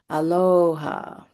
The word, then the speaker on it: Aloha: Then eye to eye, smiling, they said, "Aloha." Drawn out, a long o and a long ha.